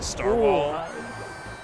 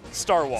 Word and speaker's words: Starwhal: I think of a Starwall.